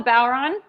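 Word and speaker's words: bodhrán: drum is called the bauron um you spell it b-o-d-h-r-a-n but you don't pronounce the d because the letters don't make the same sounds in irish as they do in english um so anyway it's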